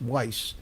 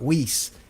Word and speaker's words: Weiss: who don't realize that the German pronunciation is Weiss, not Weiss.